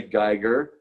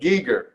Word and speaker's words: Giger: gieger or h.r giger people say geiger and they're wrong because he said giger i'll go with how he pronounces his own name personally but anyway you